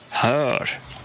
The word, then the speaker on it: hör: Donc le hör est plus proche du O, même si c'est la même voyelle. C'est un O avec 2 points. Mais on est plus proche ici de O que de E dans le cas de hör, hör. Pourquoi? Parce que cette voyelle O avec 2 points au-dessus est suivie d'un R.